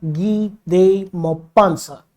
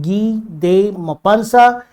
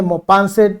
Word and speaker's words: Guy de Maupassant: लिखा है French writer गी दे मोपांसा। जी हाँ, इनका फ्रेंच प्रोनाउंसिएशन है गी दे मोपांसा। अमेरिकन प्रोनाउंसिएशन में मोपांसेट भी इनको बोल देते हैं, but that is your choice.